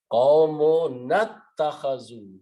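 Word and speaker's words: قَوْمُنَا اتَّخَذُوا: So qawmuna, when you read together, ittakhazu is pronounced with combining with the noon. Qawmunattakhazu. You do not pronounce alif and becomes hamzatul wasl.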